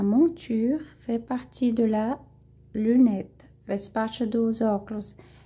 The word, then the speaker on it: lunette: Une monture, elle fait partie de la lunette. Donc, une monture, elle a fait partie de la lunette. Lunette. Ok? Aqui o né a gente é pronunciado, tá? Para lunette.